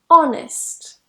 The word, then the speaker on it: honest: pronounce the huh now sometimes the H is completely silent at the beginning of words for example air honest and honor make sure that when